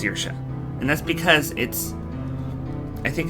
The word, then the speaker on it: Saoirse: It's like looking at the name Saoirse, and it looks like it should be pronounced Saorise or something like that, Saorise, but it's pronounced Saoirse, and that's because I think it's Celtic.